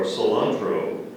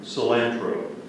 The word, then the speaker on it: cilantro: was the chopped cilantro are there any alternate pronunciations two pronunciations are cilantro and cilantro I'm sorry part of speech